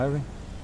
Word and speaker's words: Erwin: É sua posição, Ervin? Zagueiro. Eu tô pronunciando o seu nome correto? Corretíssimo.